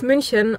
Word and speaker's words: München: But it's like, it's München or Köln, not Cologne or Munich.